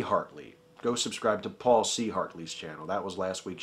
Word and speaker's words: Paul C. Hartley: shout out was to Paul C. Hartley. I mispronounced it. I said Paul Chartley, which a lot of people were kind enough to point out was a really stupid thing to say.